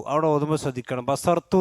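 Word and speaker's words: بصرت: ഖാല ബസുർത്തു. അവിടെ ഓതുമ്പോൾ ശ്രദ്ധിക്കണം. ബസർത്തു എന്നല്ല, ബസർത്തു എന്നല്ല, ബസു ഉറ എന്ന്, ബസുർത്തു എന്നാണ്. ബസുർ സ്വാദിന് വമ്മാണ്, റാക്ക് സുക്കൂനാണ്.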